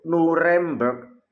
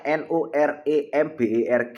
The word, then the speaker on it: Nuremberg: Itu Nuremberg, Jerman, dalam bahasa Jerman disebut Nuremberg ya.